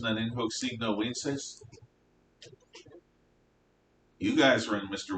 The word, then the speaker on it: In hoc signo vinces: In hoc signo vinces. That's a V, but it sounds like a W.